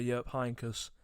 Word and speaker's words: Jupp Heynckes: the back of winning the Champions League under Jupp Heynckes. That was a good pronunciation, Eden.